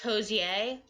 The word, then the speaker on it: Hozier: cute it's supposed to be pronounced hos yay there's some mannequins Akoo shillitoe za it's not it's cozier oh that's right no it is hozier but um sorry so it's supposed to be